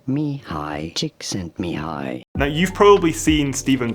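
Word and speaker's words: Csikszentmihalyi: and and maybe overlay someone's saying his name Mei chick sent me high now you've probably seen Steven Cotler and other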